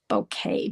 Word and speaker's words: bokeh: It's a Japanese term bouquet. B O K E H is how you spell it.